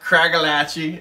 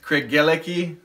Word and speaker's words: Craigellachie: we're doing cigel 13 not Kachi as a lot of Americans say but craigi 13 um it's a spayside